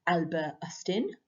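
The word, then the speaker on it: Hustin: a belgian scientist called albert astin and that's how you say his name because he's belgian he's not british he discovered that glucose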